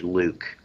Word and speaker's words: LIWC: inquiry and word count liwc which we pronounce in english luke in the luke program